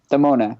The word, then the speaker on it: Demona: Demona.